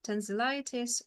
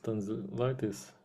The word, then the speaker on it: tonsillitis: Yeah, so tonsillitis or just sore throat infection, I guess, would work. Mhm. I think everybody who has problem with sore throat know what is tonsillitis, because they just know what is it.